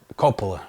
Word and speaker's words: Coppola: I'm sorry, I just butchered his name. Francis Coppola.